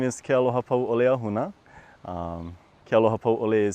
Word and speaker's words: Kealohapauʻole: My name is Kealohapauʻole Ahuna. Kealohapauʻole is spelled Kealoha, P-A-U, Okina, O-L-E.